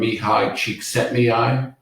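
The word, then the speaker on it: Mihaly Csikszentmihalyi: and this is from the book flow from mihai cheek set Mei and that is how you pronounce that um and flow is really about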